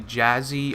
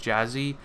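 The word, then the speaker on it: Jahseh: jazzy or Jack yeah I guess I'm pretty sure it's pronounced jazzy it's actually jazzy Dwayne on Froy and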